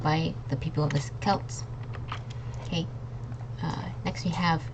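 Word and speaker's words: Celts: that lived in Ireland so it's Kelts not selts okay so this is a hard sea next we have Sinn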